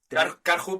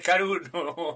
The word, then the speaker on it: Karhu: karhu para los españoles Es que esto hay que pronunciar es como Nike Nike o sea hay que pronunciarlo de que la gente lo entienda exactamente si dices caru pues carhu Tenían un modelo que